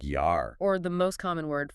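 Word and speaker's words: Jahr: The German word for year, it's spelled J-A-H-R. If you read that with English eyes, you'd say jar. Like a jar of pickles, yeah. But with the rule, J is Y. It's yar.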